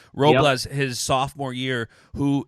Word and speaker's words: Robles: Robles, yep.